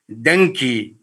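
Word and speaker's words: dengue: could be very severe shock with hemorrhage remember denki pronounce it properly denki viruses can cause hemorrhage is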